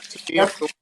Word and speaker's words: Tamia: Tamia, is that how you pronounce her name? Yep, Tamia.